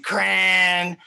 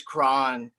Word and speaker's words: Cran: My name's Cran. And to be honest, guys, that's not even how my last name's pronounced. My last name is Cron.